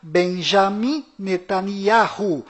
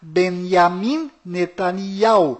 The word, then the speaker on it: Benjamin Netanyahu: bom volta no assunto fora de Israel o nome deste primeiro-ministro é pronunciado Benjamin metaniarro mas dentro de Israel o nome dele é pronunciado benyamin netanyahu ao confira fora dentro fora